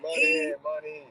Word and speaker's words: Moynihan: Moynihan, right? Yeah, Moynihan.